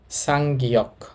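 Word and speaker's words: 쌍기역: তো আমরা এই বর্ণটাকে এখন ডবল গিয়ক না বলে আমরা বলবো সাংগিয়ক। সাংগিয়ক। সাংগিয়ক এই বর্ণটার নাম। এই বর্ণটার উচ্চারণ হবে গিয়কের শেষ বর্ণ।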